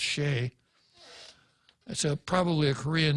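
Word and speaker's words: Choi: by a guy named david c h o i which i understand is pronounced shea that's a probably a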